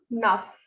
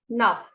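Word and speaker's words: neuf: So this is avec, this is nuff, this is seal. So whenever a word ends with C, F, or L, it is pronounced completely.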